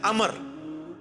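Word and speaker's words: عمرو: है लफ्ज है अमर लिखा होता है उमरू लेकिन उसका मतलब वाओ जो है वो साइलेंट होता है और वाव का मतलब यह है कि आपने इसे पेश की बजाय जबर से पढ़ना है उमर की बजाय पढ़ना है अमर तो हजरत अमर बिन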